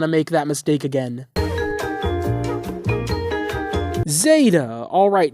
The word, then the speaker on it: Zaida: Zaida. Alright, now there's another pronunciation, Zaida, but I don't care. I'm saying Zaida.